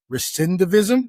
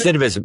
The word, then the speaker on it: recidivism: I even had to look it up cuz I didn't even know the word recendivism. Is that how you pronounce recidivism?